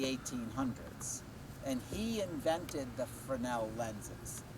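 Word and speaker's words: Fresnel: and he invented the frel lenses it's it looks like it's Fresno there's an s in there but the S is silent it's frel one day on Jeopardy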